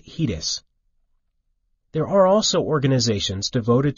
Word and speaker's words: HEDIS: and healthcare effectiveness data and information set, HEDIS, pronounced HEDIS.